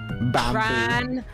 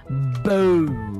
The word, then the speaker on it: Ranboo: Bamboo. Ranboo. Why would you pronounce my name in a different way?